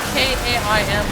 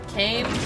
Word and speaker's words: Kaim: Would you just say, if it's spelled K-A-I-M, would you just say it's Kaim? Kaim? That doesn't feel natural.